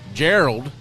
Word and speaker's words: Gerald: new uh guest here Gerald the owner of Arrow or uh Warhead Arrow Company I probably said your name wrong I always do that you did Geral Geral yeah like Harold like Harold yeah so Geral from uh